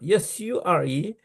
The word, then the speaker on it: sure: Even the sure, S-U-R-E, they pronounce sure.